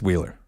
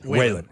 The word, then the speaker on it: Whelan: Now, this 1-for-1 is where everything kind of went sideways because we said, fine, give us Wheeler. That's how you say it. Whelan. Give me Whelan.